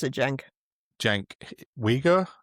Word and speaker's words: Uygur: Uygur, as in like the Uygur Muslims? Yeah. Is that how you pronounce it? Spelled the same. He mentioned Zach Polanski yesterday. I think the Americans call him Uygur, I'm not sure.